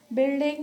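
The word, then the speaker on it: building: बिल्डिंग में भी आई की साउंड आ रही है, यू के बजाय बिल्डिंग या बिल्ट या बिल्ड, इन सब में जो है वो यू साइलेंट है।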